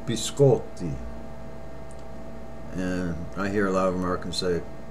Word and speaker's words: biscotti: It's biscotti. And I hear a lot of Americans say, can I have a biscotti? Incorrect. Biscotti. And that means cookies, plural. Biscotti. Not biscotti.